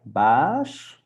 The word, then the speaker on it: baas: All right, baas. So make it long, right? Because we have here two A's, so it's baas.